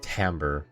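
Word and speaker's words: timbre: Uh, that word's actually pronounced tambber from everything I've heard, everything I've learned. And now I'm going to search it just to uh just to see if there's any Yeah. No, it's just tamber.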